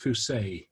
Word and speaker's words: Fuse: Oh, by the way, her name's pronounced Fuse.